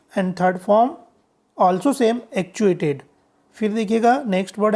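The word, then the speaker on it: actuate: फिर है एक और वर्ड है जिसका मीनिंग शुरू करना है, परंतु ध्यान दीजिएगा इसका प्रोनाउंसिएशन जो है वो क्या होता है, एक्चुएट होता है.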